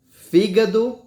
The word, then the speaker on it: fígado: proparoxítonas certo nós temos fígado certo E também temos a palavra rápido certo você pode notar que nós falamos com mais força certa a primeiras a antepenúltima sílaba dessa palavra não foi ó fígado